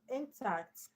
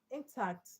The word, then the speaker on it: intact: Um intact intact is an adjective but because in has short e sound t has strong vowel sound. So the stress goes to the second syllable confuse.